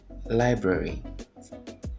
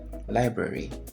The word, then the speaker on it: library: This is actually not a two-syllable word. It's library. Library, not library.